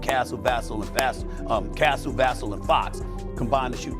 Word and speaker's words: Vassell: Vassell, and Fast Castle, Vassell, and Fox combined to shoot 36 and 1/2% shooting. Watching this game like Vassell. Is that how you pronounce it? Vassell? Vassell? Cuz it rhymes.